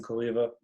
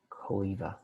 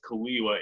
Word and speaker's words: Cholewa: Well, because I always read it as Cholewa in my brain whenever I saw his papers, and now I learned that it's pronounced as a V, not a W.